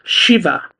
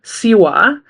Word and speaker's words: Śiva: Jadi cara membaca C atau baik S yang ini adalah SH. Jadi sh, bukan se. Jadi cara membacanya dengan baik adalah Shiva. Bukan Siwa, tetapi Shiva dengan H.